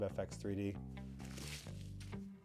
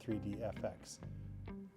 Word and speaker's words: FX3D: So good job FX3D. I said it right. It's not 3D FX.